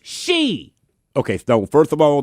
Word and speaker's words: Xi: The man goes by President Xi, Roman numerals for 11. Oh, Lord. No, Felix, it's she.